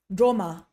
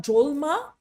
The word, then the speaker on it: Drolma: So it's tashi, droma. And the reason it's not drolma is that thing we talked about earlier with the syllable. We kind of almost lose that last letter, droma, droma, chashi, droma, okay?